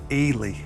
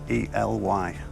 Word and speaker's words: Ely: 17 000 pounds I don't know if I'm pronouncing it right but Eli e l y to take you one step closer to a